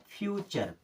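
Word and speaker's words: future: means होता है प्रकृति एफ यू टी यू आर ई टी यू आर ई इसे क्या पढ़ना है चर क्या पढ़ेंगे चर अब एफ यू का क्या हो जाएगा फ्यू क्या हो जाएगा फ्यू ऐसे फ्यूचर फ्यूचर मींस क्या होता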